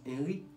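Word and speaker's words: INRI: Je prononce Henri, I-N-R-I.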